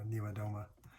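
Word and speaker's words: Niewiadoma: Oh shoot, I forget how to pronounce it. I have to look at it. Niwadoma. There we go, Niwadoma.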